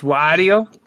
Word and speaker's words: Wario: This is pronounced Wario.